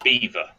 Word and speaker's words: Belvoir: Belvoir Belvoir okay okay it's pronounced Beaver right why well it's a technical thing does nobody know it's just but it's because it's it's from Leicester and that's the way we do it these are like Rome